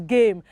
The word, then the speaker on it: game: pronounce it as gang we pronounce it as what as game and so the letter hey yeah carries the sound hey what do i mean look at this children we have we have hey that's a okay and um the e is silence and that is what children what we have when we when we call game we hear game not game not game it is what it is game okay another example we